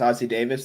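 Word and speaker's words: Ossie Davis: No, I was more concerned that I mispronounced Ozzy Davis there. I thought it might have been Aussie. Oh, you go. So I was I didn't want to say it like Ozzy Osbourne, but I think I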